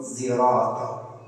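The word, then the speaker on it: صراط: Mengucapkan lafaz sirat tidak dengan sad dan tidak dengan sin, tapi dengan ismam. Bi ismam sad zai, dengan mengismamkan sad dengan suara zai. Jadi pengucapan sirat ini menurut Imam Hamzah yaitu zirat.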